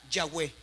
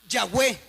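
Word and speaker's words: Yahweh: intercalaron las vocales entre las cuatro consonantes yh. Y es ahí donde ya tiene una pronunciación. ¿Como cuál? Yahwé. Y es ahí, hermano, donde aparece la palabra Yahwe.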